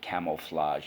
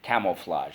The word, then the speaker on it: camouflage: That j at the end is actually a G, camouflage, but we pronounce it camouflage to be respectful towards its French origins. Camouflage.